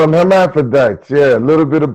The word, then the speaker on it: hermaphrodite: Herm, and the PH, you change it for F.